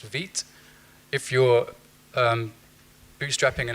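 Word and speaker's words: Vite: I've highlighted the ones I personally use that's pronounced vit if you're um bootstrapping an app very quickly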